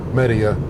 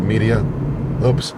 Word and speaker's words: Media: Yes, that's a pronunciation. Media, not media. With some trees blossoming here in Media.